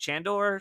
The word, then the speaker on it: Chandor: I think I pronounced him right. Shandor. Shandor. Yep.